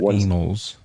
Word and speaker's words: Annals: It's pronounced Annals. It's Roman. It's like Yeah, Latin. it's Latin or something like that. They said anal.